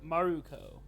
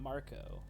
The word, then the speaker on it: Maruko: Mark who shared oh maruko it's not it's not Marco this one in Japanese